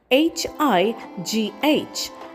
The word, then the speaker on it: high: The next word we have is hi spelled as h i g h and we pronounce it as h i h high.